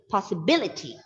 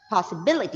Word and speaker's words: possibility: this is third last so again the syllable bi b is b is stress that is possibility possibility it's not possibility that